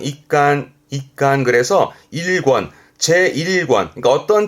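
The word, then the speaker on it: 一巻: 발음은 ik간 그래서 일권, 제1권.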